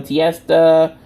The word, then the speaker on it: Tiesta: You know, Tiesta rhymes with Fiesta, Fiesta Friday.